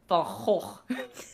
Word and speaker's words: Van Gogh: It's a Dutch artist, and teacher was like, "No, he pronounces it as Van Gogh," and then the Dutch person in the corner is like, "Van Gogh." It just sounds like you're just.